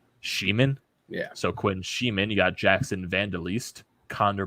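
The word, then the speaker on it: Schmiemann: They said they were pronouncing it Sheeman. Sheeman? Yeah. So Quinn Sheeman.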